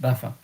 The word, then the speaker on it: Baffin: I would say ill the baffin because baffin is it's a name in English. But just so you know that normally I would have pronounced Bafa.